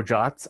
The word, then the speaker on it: JWT: to do so so jots are a uh web standard they are pronounced jot and it stands for